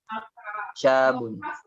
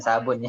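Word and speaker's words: شاب: Nazala minas sayyarati syabun. Bukan sabun ya. Syabun.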